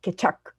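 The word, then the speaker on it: Keccak: You have to say Kechak for the hash and things like that.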